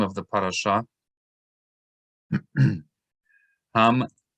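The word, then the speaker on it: מצורע: So for example, this word, which is the name of the parasha, METSORA, right? So that's one syllable.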